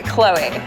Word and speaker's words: Khloe: Kylie or three Khloe does your favorite Kardashian rhyme with Zoey yes I got that Bannister's and number three Khloe right I don't know